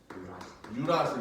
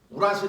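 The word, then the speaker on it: 유라실: 타이민 대신에 뭐가 나와라 유라 발음 잘해야 돼요 우라실 아니에요 옛날에 우라실이라 그랬어 근데 우라실 다음에를 질로 바꾸면네 이런 우라질 네이션이 되는 거예요 근데 요새는 유라이라고 발음을 아예 바꿔놨습니다 그다음 무인 이 똑같아요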